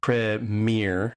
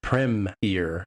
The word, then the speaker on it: premiere: American style, we tend to say premiere, and as far as I can hear from listening to the British say it, especially on like English Premier League, is premiere.